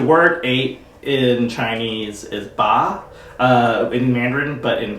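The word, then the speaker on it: 八: culture because the word eight in chinese is ba uh in mandarin but in cantonese bot um but it's really rhymes with uh like fat choi so which stands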